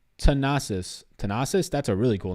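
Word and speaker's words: Thanasis: It's pronounced Tanasis.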